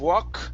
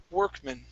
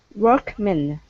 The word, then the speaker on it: Workman: the word Workman okay instead of walk okay curve the the tongue up for the r and it's an e sound were Workman Workman very nice uh next